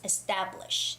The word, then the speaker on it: established: and the word establishing established ta has the stress it's established established okay i know it's